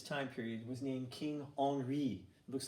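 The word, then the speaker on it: Henri: King at this time period was named King honoree looks like Henry but it's pronounced honoree because he's a ridiculous French accent Audrey was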